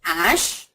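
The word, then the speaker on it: hache: means an axe okay here if you see when I'm saying Ash I'm the accent is on a so the H the alphabet H in the word is silent it's not even aspirated I don't sound the her sound at all but if I were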